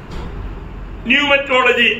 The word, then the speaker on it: pneumatology: PNE, अभी वहां पर P साइलेंट है, लेकिन लिखने के टाइम पर पूरा लिखना। PNEUMATOLOGY, न्यूमेटोलॉजी।